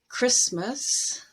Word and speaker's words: Christmas: Christmas, mortgage, and chestnut. In pronunciation or phonetics, phonology, we have a concept